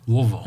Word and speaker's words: Louisville: So how do you say the name? Is it Louisville? Louisville.